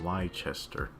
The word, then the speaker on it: Leicester: Apollo says, so for Leicester, the name is from one of the very original kingdoms of England, pronounced Leicester.